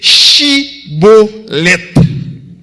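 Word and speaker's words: Shibboleth: Prononcez mot ça qui c'est Chibolet. C'est le mot que compagnon maçon étoile là. Yo même yo pas de prononcer mot au lieu de chi, yo dit si.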